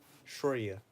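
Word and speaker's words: Surya: In Jyotish, Vedic Jyotish, Shurya, is going to be how you pronounce the sun.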